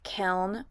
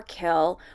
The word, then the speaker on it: kiln: it two different ways kiln or kill old school potters like my dad say kill where the n is silent but i just prefer to say kiln because i don't like